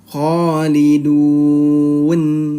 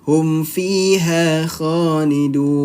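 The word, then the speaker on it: خالدون: Nah, di saat nun, di nunnya ini harus disempurnakan ya, sukunnya ya. Khalidun. Nah, mulutnya seperti ini, nyengir. Pelafalan huruf nun. Nunnya harus sukunnya disempurnakan. Nah, kan itu kurang terdengar ya. Kalau seperti ini, hum fiha khalidun.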